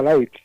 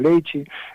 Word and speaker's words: leite: a priori, ensinamos que a palabra leite, tal como a pronunciei como galego, é pronunciada light, mas bon, é unha pronuncia lisboeta, ¿no? Que dice, no norte de Portugal dicen leite, que dice, no sur de Portugal dicen leite, no Brasil dicen leiche.